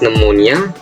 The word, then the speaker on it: pneumonia: For P is pneumonia.